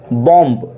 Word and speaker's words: bomb: तो देखिए यदि किसी वर्ड में बी एम के बाद आता है, काई के बाद आता है, एम के बाद, तो ऐसी स्थिति में मित्रों बी साइलेंट होता है।